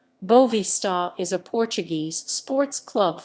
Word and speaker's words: Boavista: vista futabal club commonly known as bovista portuguese pronunciation bovista is a portuguese sports club from the city